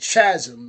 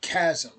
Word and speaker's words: chasm: get the equipment so earlier I had said Chasm it's pronounced Chasm there we go get the gun once they've